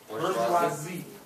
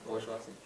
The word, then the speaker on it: bourgeoisie: The way you say it, just remember 3 simple syllables, because it's a French word, and it's usually the most butchered pronunciation, which is no different. It's burr, like you get a burr under the saddle, then joie, bourgeois, and then the letter Z. Bourgeoisie.